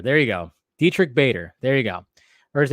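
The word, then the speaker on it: Diedrich Bader: I could never say his name though Dietrich Dietrich Bader there you go Dietrich Bader there you go or is it Baker Bader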